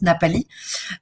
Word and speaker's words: Ngapali: Ou alors la possibilité d'avoir une post-extension sur les magnifiques plages de Ngapali. Donc on le prononce Napali.